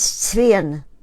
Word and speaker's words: Zwirn: Linda Zwirn, but in my English from Austria, it's Zwirn, which means thread.